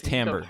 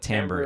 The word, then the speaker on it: timbre: is so much more so like yeah what's tam for everybody that's listening to this explain what timbre is meaning um so i guess the best